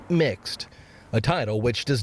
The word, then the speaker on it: Mx: use the pronoun Mr., instead using MX, pronounced mixed, a title which does not imply a gender.